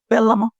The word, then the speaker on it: Vellamo: So you consider Velmo, am I pronouncing that correctly? Velmo.